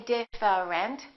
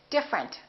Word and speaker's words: different: connected interesting look at this one we don't say different we say different the E disappears different here are